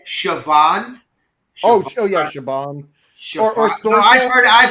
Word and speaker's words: Siobhan: this female Irish name S I O B H A N Savon. Oh yeah. Siobhan. No, I've heard I've heard it pronounced with a V.